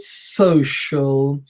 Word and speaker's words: social: pointer or not anyhow there is the word social so SOC I al and we pronounce its social with the actual shirt sound